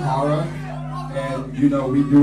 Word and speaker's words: ho99o9: So when they see this logo, they're like, well, how do you pronounce it? Is it ho99? Is it Hogog? Is it da da da da da da da da da? It's fucking horror.